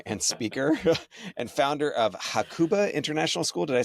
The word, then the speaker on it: Hakuba: Today's guest is Chris Balm, like lip balm, uh leader, author, and speaker, and founder of Hakuba International School. Did I say that right? Yes. Cool. I yeah, pronouncing Japanese is super easy.